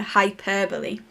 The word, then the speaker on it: hyperbole: So we've got the correct pronunciation there, hyperbole.